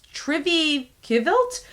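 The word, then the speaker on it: TRVE KVLT: But yeah, this is hard to pronounce, but it's Trivilt. So it's spelled TRVE, and then the next word is KVLT.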